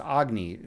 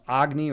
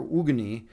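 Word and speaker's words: Agni: It's actually pronounced Agny. I have it the Chicago accent, so I call it Agny, but it's actually pronounced Agny or Ugan.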